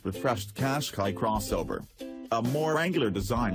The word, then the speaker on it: Qashqai: And for help pronouncing the name, Qashqai sounds like Qashqai.